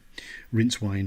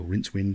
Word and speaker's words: Rincewind: first book, where we meet Two Flower and Rincewind, or Rincewind, depending on how people want to pronounce his name.